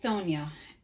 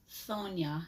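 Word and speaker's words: Chthonia: So Hekate Cthonia, pronounced Thonia, not Cthonia, although I'm not going to harsh you either way you say it. I often find myself mispronouncing this epitaph, as it's the most popular way to say it. It seems everybody's saying Cthonia.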